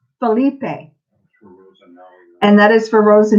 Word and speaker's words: Philippe: beneath beat no no you don't pronounce the e believe pH I ll i PP i e yes Philippe Philippe and that is for